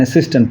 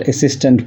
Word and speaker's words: assistant: I just said assistant professor. In fact, the correct pronunciation is assistant professor. It's not assistant professor. As in other words like achieve, about, announce, about, above, so assistant.